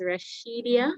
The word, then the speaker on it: Rashidia: I am seeing, is this Rasidia? Not sure if that's how you pronounce the name. Rasidia. Good evening, everyone. My name is Rashidia.